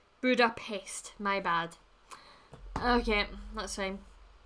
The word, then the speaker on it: Budapest: Is it Budapest or Budapest? That's gonna bug me now. I always thought it was shh noise. Hold on. Let's see. Budapest. Okay, well apparently I've been saying it wrong.